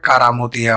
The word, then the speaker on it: কেরামতিয়া: অনুসারেই তার প্রতিষ্ঠিত এ মসজিদের নাম রাখা হয় কারামতিয়া মসজিদ তবে স্থানীয় উচ্চারণে কেরামতিয়া মসজিদ নামেই প্রসিদ্ধ ইতিহাস থেকে জানা যায়